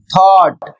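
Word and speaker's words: thought: इसका उच्चारण होता है थॉट।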